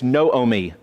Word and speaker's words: Naomi: Naomi is not Naomi it's no o me long o no o me okay the other name